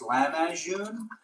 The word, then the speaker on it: Lahmajoon: Bro, it's pronounced Lahmajoon. I think, Dad, how do you pronounce it? Lahmajoon. Lahmajoon. Well, in my family, it's Lahmajoon, which is L-A-K, but it's not K.